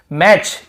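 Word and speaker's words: match: बैच यहां पर भी टी को नहीं पढ़ रहे हैं यानी कि यदि लास्ट में t के साथ न हो या लास्ट में टी के साथ सी हो तो हम वहां पे t को नहीं पढ़ते हैं लेकिन लिखते जरूर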